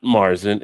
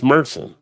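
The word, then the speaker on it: Märzen: learn when you see it's not Marsen it's meren that's the actual pronunciation of it just like just like it's not Whit beer it's really vit beer it's a difference meren not Marson meren meren mer like a mercenary mercen not mercenary like a well you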